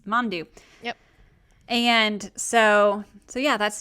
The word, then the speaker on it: Mandu: is a little more of a scaredy cat mondou thank you i was like yup that's it that's how you pronounce mandu and so so yeah that's dave um speaking